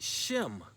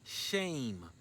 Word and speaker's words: shem: it means name now in modern mutbrew they use the word shem but that's not the pronunciation of the word the pronunciation of the word the accurate enunciation of the word is shame and it's a good